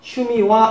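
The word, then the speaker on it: 趣味は: 여기 하라고 되어 있는데 이 하자는 조사로 쓰일 때는 와로 발음한다고 그랬습니다. 발음이 와로 발음을 해서 슈미와 이렇게 됩니다.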